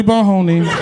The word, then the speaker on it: Boney: Cause my name is fucking Boney. My name is fucking Boney. And it rhymes with free baloney.